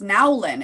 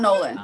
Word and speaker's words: Nowlin: I believe it's Nowlin. Is that right? Yes. Yeah, so it's not Nolan, Cassie Nowlin.